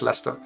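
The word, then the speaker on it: Leicester: you how do youon so fewer syllables than it should be but yeah just leester yeah Lester house so it's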